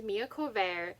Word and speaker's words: Corvere: The main character's name is Mia Corvair, I think that's how you say her name, and she